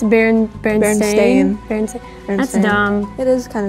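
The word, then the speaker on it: Berenstain: so The Berenstein Bears is actually spelled with an a it's not Berenstein it's Barron Stadium that's dumb it is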